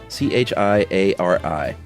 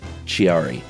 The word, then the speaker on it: Chiari: Chiari I think it's c-h-i-a-r-i and I bet you it's not Chiari you gotta say it like an Italian person Chiari malformation syndrome and